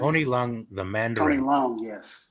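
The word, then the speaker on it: Tony Leung: Tony Lo or how do you pronounce his name? Tony Long.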